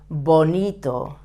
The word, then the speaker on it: bonito: okay Bonito the same the B soft but not explosive Bonito it's beautiful or beautiful